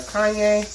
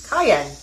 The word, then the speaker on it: cayenne: And next C, which is our Kanye. Cayenne. Oh my God, I'm saying it wrong. I'm saying the wrong thing. Cayenne peppers. I'm saying Kanye. Like that annoying guy.